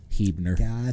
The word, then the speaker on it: Huebner: a good kid so it's actually pronounced with like two e's hebner so it is alex hebner but he's been really